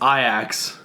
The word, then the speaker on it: Ajax: it's Lester be sure wait how do you pronounce this AJ ax Ajax its I ax so team the other two Dutch team okay